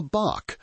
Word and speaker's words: bach: A New Zealander has a specific sacred word for this, a bach, pronounced like batch.